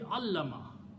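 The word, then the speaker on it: عَلَّمَ: Shadda means lam is being pronounced now 2 times. Okay? So if this word is alama, this will be allama.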